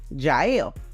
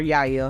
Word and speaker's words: Jael: is greeted by hebrew's wife Jael or Yaya however you want to pronounce it she invites him